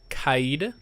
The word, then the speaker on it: Kaid: so anyway you know operators are called Qaeda I believe is how you pronounce it I looked it up